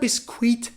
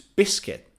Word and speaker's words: biscuit: last is biscuit biscuit so it's not biscuit it's biscuit the last silent letter